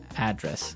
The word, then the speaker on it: address: live Y and there the stress is on the first syllable address right perfect very good okay